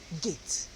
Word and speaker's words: gate: And ironically, in the word gate, the last letter there is silent, always silent. The letter E there is silent. You don't pronounce it, you don't sound it.